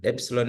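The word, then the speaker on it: ἔψιλον: Then epsilon is pronounced as A, just like in the word met. Then the zeta is pronounced as Za, just like in the word des.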